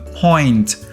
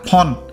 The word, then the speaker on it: point: Ví dụ như từ point, nó là point, chứ không phải là pon. Bạn đọc là pon là ra từ khác đấy.